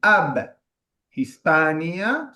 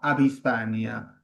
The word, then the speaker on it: ab Hispania: Vieron que eh como les decía, la H no es una consonante y no separa las sílabas. No decimos ab hispania, sino abispania. Abhispania.